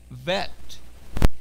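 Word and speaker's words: ב: says Bet and then Vet. If it has a dagesh, if it has a belly button, it's a bet. But if the same symbol does not have a belly button, it's a vet sound.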